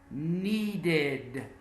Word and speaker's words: needed: Needed. Needed. Need is a verb that ends with a D and a D sound. So the ED that represents the simple past is pronounced as a separate syllable.